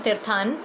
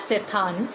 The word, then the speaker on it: Tirthan: Today we have Sheena joining with us right from Tirthan. And in fact, I was having a conversation with her sometime back, and I was pronouncing this word as Tirthan. And she said, no, it's Tirthan.